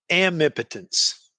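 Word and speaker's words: amipotence: How do you say this word? I say it amnipotence.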